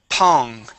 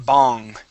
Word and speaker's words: pong: Ping sounds okay, but pong, you are pronouncing a B, saying bong. Okay. You need to release the tension here. Okay, and just use a puff of air.